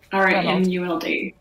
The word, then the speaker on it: Romuld: having me sage and i hope i'm pronouncing your name correctly yes it's ronald reamuld thank you very much